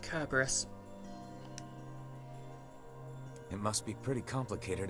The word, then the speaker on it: Cerberus: fit the bill slap of pedantry is technically pronounced Cerberus it must be pretty complicated if even you